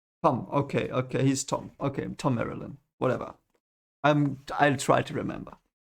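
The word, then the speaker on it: Thom Merrilin: Okay, Tom Marilyn.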